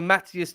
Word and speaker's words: Mathys: Mathys.